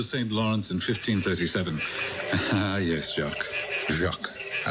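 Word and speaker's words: Jacques: sailing up to St Lawrence in 1537 yes jacqu Jac I like the pronunciation Jac is the way it's pronounced but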